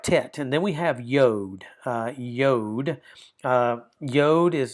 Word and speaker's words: yod: So we have tet and then we have yode.